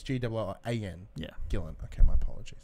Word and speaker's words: Gillan: So I keep saying Gillian as if like Gillian Anderson. like Gillian Anderson from. Even that's not pronounced right. No. So it's Gillan. So it's G-I-L-L-A-N.